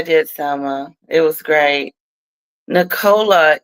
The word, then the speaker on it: Nicola: Nicola, it's okay, Letitia. Americans say Nick or La, but here in Britain, it's Nicola.